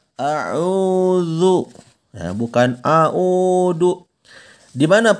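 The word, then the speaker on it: أعوذ: masuk ke huruf dza huruf dza ini bukan huruf Dal ya tapi huruf dza Wook bukan au.au do ya melainkan harus zuk Coba anda bisa Sebutkan lafalkan kata zat a'udzu bukan aha uduk dimana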